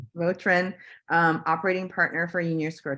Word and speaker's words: Vautrin: And we're very excited to have Vautrin. Did I pronounce that right? Yeah, you bet. Vautrin, operating partner for Union Square Travel Agency.